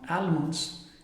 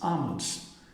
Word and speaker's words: almonds: day it's wednesday and this one is not almonds it's almonds now it might sound